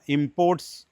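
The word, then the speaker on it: import: ഇമപോർട്ട് ഇറക്കുമതി ചെയ്യുക India ഇമപോർട്ട്സ് petroleum products from Gulf countries ശരിയാണ് എന്നാൽ ഇറക്കുമതി ചെയ്ത വസ്തുക്കൾ എന്നുള്ളതിനും ഇതേ വാക്ക് തന്നെയാണ് അവിടെ ഉച്ചാരണത്തിന് ഒരല്പം വ്യത്യാസമുണ്ട് ഇമപോർട്ട് ഇ എന്നുള്ള ശബ്ദത്തിനാണ് അവിടെ സ്ട്രെസ്സ്ദീസ് ആർ ദ ഇമപോർട്സ് ഫ്രം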